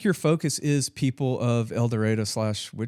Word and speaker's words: El Dorado: I think your focus is people of El Dorado / Wichita. So, Sure. did I say that right? El Dorado? Or do y'all say El Dorado?